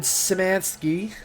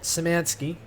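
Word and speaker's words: Szymanski: I but yeah it's done by the same guy who did finger bones David simansky I learned that's how you say it samansky I can chop all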